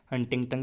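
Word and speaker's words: Huntington: हाँ तो भाई देख लिया मैंने, हंटिंगटन ही कहते हैं उसको, प्रोनाउंसिएशन कोई क्या पता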